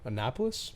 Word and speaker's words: Annapolis: I would hang out a lot, and then Mike moved to Annapolis, Maryland. Am I Yeah.